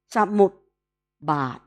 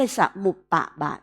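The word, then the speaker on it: ปฏิจจสมุปบาท: ต้อง เขียน ภาษา บาลี สมุป สมุป บาท นะ สมุป แล้ว ก็ บาท ไม่ ใช่ สมุปปาท นะ คะ ที นี้ อวิชชา เมื่อ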